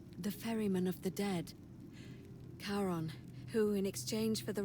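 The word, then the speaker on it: Charon: it's just as you described it only your pronunciation is a little off the name you heard wasn't karen it was c c-h-a-r-o-n yes yes as in caron the ferryman of the dead karon who in exchange for the right coin helps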